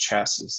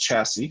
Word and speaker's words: chassis: sorry show chassis FPC I wish it were just pronounced chassés that would make my life so much easier but unfortunately it's pronounced chassis so I will say chassis but you can see